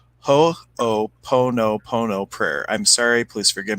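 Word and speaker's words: hoʻoponopono: that there you go it's hopo ho o po no pono prayer i'm sorry please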